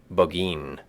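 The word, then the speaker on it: Burgoyne: had a famous foxhound named bergoin he pronounced it bin which my informant used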